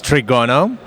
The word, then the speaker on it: Trigono: vlad our game is trigono trigano yeah you can pronounce the row e1 it's like trigonometry so it's about triangles